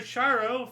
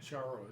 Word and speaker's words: Charo: Charo is how you pronounce it, I believe.